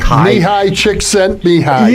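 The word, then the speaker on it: Mihaly Csikszentmihalyi: This is as you know the the psychology of flow by uh if you can pronounce his name, you get a Nobel Prize. Mihi Mihi Chick sent behind.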